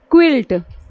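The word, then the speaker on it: quilt: पर फोकस करना है देखिए एग्जांपल है जैसे क्विल्ट क्विल्ट मस होता य देखिए क्विल्ट ऐसे हम लिख रहे हैं क् किल्ट नहीं लिख रहे क्विल्ट लिख रहे य य हमारा क्या साउंड कर रहा है व साउंड कर रहा है क्विल्ट मीस होता है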